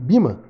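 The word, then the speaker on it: Böhme: Entender a diferença, por exemplo, entre João da Cruz e Bima, por exemplo. Bima se escreve B-O com trema H-M-E.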